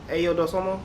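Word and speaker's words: Ayo Dosunmu: You got Kobe, you got Levine, Vucevic, Dosomo, Ayo Dosomo.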